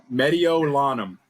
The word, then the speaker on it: Mediolanum: about you short answer would probably be the pronunciation of my name hold on let me see if is it Medio Lanham yeah five months right there um I said